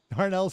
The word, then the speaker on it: Darnells: Darnells. Darnells is the correct pronunciation, yes.